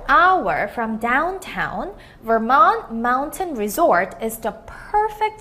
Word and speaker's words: Vermont: So, Vermont라는 단어는요, Vermont 하고 Mont에다가 액센트를 주시는데, 실수로 잘 몰라서 Vermont라고 읽었다고 해도 크게 감점이 되는 요인은 아니니까 자신있게만 읽어주시고요.